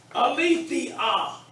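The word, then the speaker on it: ἀλήθεια: The first one is, now I'll pronounce the word that I want you to pronounce it as a class. Aletheia.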